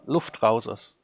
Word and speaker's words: Luftrausers: How do you pronounce it, DerRidda? Luftrausers.